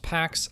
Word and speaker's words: P4X: Caceres adopted the pseudonym P4X, pronounced Pax, Latin for peace, a sly nod to his mission, making the Lazarus group regret targeting him.